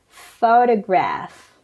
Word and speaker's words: photograph: have to be stressed first the stress is on the first syllable photograph but in photography the stress